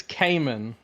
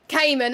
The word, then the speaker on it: Kajman: I would think it's Cayman. Cayman, okay. Cayman. Like the Porsche.